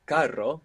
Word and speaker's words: carro: it's like carro, but with one R. Caro. Caro. So again, it's a nice pair to feel the difference between having the single R and the double R, just as we saw